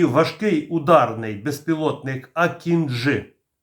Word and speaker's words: Акінджи: і важкий ударний безпілотник акінжи наголос на останню букву для компанії байкаar важливо